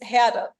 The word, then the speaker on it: Herde: um in German, because I'm German, right? Like it's Herde. Okay. Well, yeah, no, it wasn't doing that. So yeah, you could probably say both, like herd, herdy, whatever floats your boat.